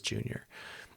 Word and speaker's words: Yunior: It's spelled Yunior, but it is Junior.